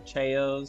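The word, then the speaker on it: Chao: I had so many hours in it, raising the Chows or Chayos. I forgot how they're pronounced.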